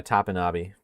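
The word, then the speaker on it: Topinabee: How are you pronouncing that T name? Tapanabi. Yeah, Tapanabi. That is correct.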